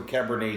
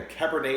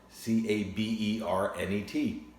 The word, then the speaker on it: Cabernet: I would like a Cabernet Sauvignon. Just look how it's spelled. C-A-B-E-R-N-E-T. Looks like Cabernet. That's why a lot of people learning English say Cabernet.